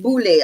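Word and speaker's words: Boulé: The Boule, it's pronounced Boule, although it is spelled Boule.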